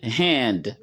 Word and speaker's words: hand: go let let we the word hand as he comme vous entendez hand avec h aspiré okpir hand la